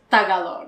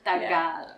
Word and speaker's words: Tagalog: So a lot of people pronounce it as Tagalog. Right? Tagalog. Yes. Guys, watching you guys. Tagalog. Tagalog. Second syllable stress. Tagalog.